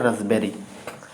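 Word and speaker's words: raspberry: रस्पबेरी लिखा है, लेकिन यहाँ पे हमारा पी क्या रहता है, हमेशा साइलेंट रहता है, तो इसको पढ़ते हैं रसबेरी, रसबेरी, ठीक है ना।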